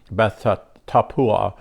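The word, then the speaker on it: Beth Tappuah: this experience we come to what another city it's spelled b-e-t-h-t-a-p-p-u-a-h Beth tapua and it's it's a city on the hill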